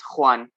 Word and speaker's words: Juan: scandi far right but my name is it's it's hard to pronounce it's spanish uh and it's very oh always everyone gets it wrong it's juan but you know don't worry